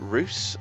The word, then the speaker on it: Reus: am taking a look at ruse today that's how you pronounce it and it's a fairly